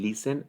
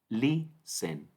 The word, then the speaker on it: listen: La stress syllable o sílaba tónica en listen es la primera. Listen, listen.